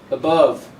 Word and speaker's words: above: uh it'll show you the same problem arises with above the a is not above it's uh weak form above also a go second syllable is a strong one so the first one is weak long time ago long